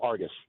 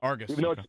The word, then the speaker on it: Argos: you came up with Argos correct yep say it like a local Argus there you go arus you you said it how it is you know spelled Argus